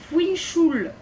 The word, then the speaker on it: Fischl: Alors, Fischl, ça se prononce Fuinchul.